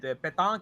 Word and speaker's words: Pétain: Okay, was- so then, okay, so, shoot, how do you pronounce this guy's name? Marcel? Petain.